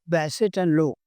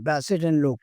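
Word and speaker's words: Bassett-Lowke: बैसेट एंड लो। Okay. This KE is silent. हाँ, बैसेट एंड लो, Bassett.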